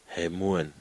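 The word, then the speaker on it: ἡμῶν: And then there is a mi, there's an omega, and then there's a nun. So now try and pronounce that one. He. Hemuan. Do you agree? Ha. He. M. Omega N. Hemuan.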